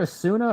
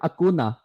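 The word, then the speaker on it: Acuña: to get 100 I guess is it Robert Asuna or Robert auna here's the pitch and just outside gonna look up how I pronounce Robert auna right and here is the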